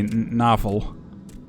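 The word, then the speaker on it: navel: sense na Naval uh like with the same same spelling different pronunciation is the word is a Dutch word for belly button but then you would say novel so Naval to me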